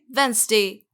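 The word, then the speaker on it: Wednesday: वेडनेसडे, जो कि बिल्कुल गलत है। आप इसे बोलेंगे वेंसडे। इसमें डी का साउंड बिल्कुल भी नहीं है, आप इसको बोलेंगे वेंसडे।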